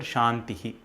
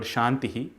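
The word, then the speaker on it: शान्तिः: This word ends with a symbol denoted by two dots. This is called as Visarga, which literally means an expulsion of air. It is not the sound Ha, which is a different consonant in itself. When this Visarga comes at the end of a vowel, the expulsion of air takes the same sound as the vowel itself.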